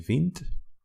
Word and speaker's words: vindt: Jij vindt. You add the T, even though there's already a D. Pronunciation doesn't change, but the spelling does.